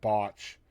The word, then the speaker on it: Botch: which is just, the first 2 letters of each one, Botch. And I kind of like that, though. I used to tell you, please make sure you pronounce the O, because I don't want Uncle, that wouldn't be nice.